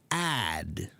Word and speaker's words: add: is not big enough if your mouth is not big enough they all look the same you're like ah ah ah they all look the same right ah but if you do it this way watch sh sh okay yeah so that's all you have to do is make a very big mouth now I want you